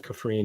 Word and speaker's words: Kafrene: But that ending, knowing that you're literally seeing Cassian go to there was the Ring of Kafrene. Is that if I'm pronouncing it correctly? Yeah, Kafrene.